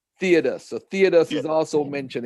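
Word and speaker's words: Theudas: you can you tell us what Joseph it's pronounced theodus theodus so theodus is also mentioned in Acts am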